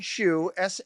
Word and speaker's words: Shu: Martin Shu, shu is the way you say his name.